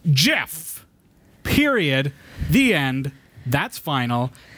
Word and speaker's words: GIF: peanut butter or a g like gift it's pronounced Jeff period the end that's final end of story